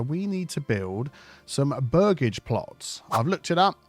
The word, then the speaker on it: burgage: the moment so we need to build some burgage plots I've looked it up that's how you pronounce it so let's get rid of that